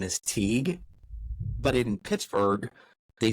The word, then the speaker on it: Teague: pronounce my name in Western Pennsylvania phonetically like phonetically my name is TE but in Pittsburgh they say like T because if you hear if you